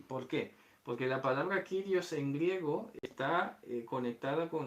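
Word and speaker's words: κύριος: Esto se pronuncia así. Kyrios. Hay algunos que pronuncian Curios. Pues bueno, no vamos a entrar a discutir eso. Yo pronuncio Kyrios.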